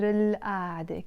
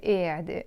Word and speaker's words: قاعدة: We also pronounce it قاعدة. I like to pronounce it قاعدة, maybe more like the villagey way.